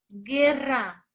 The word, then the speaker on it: guerra: Acá no me digas que la U es muda, porque no hay ninguna U. Todo esto es la G y se llama G compuesta. ¿Me entiendes? Entonces, en la primera sílaba solo hay una vocal, la E. Si tú me pides que la grafique, ¿cómo suena? Sería así. Así sonará. Guerra.